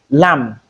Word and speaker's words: lamb: Also we have in place of MB with a silent B. When you have this kind of combination the letter B is likely to be silent in most words with this combination. We have examples here. Lamb.